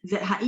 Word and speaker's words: 直: Ce, zhi, ZHI baca zhi, tapi ini nada dua.